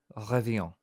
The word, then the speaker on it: revient: Le ciel revient. Yes. You're doing The so right good. pronunciation of Yes. revient. Yeah. So the revient is like is the same way you pronounce it as tien.